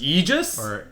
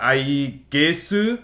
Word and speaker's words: Aegis: Because if they used the historical like uh A E A E G I S then it would be Aegis Eegis? It would be Eegis, I think. But since the Japanese they call it like it's ah I gesu Yeah.